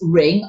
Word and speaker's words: Ring: of birth so it's ring r i n g but you don't pronounce the G in D so he's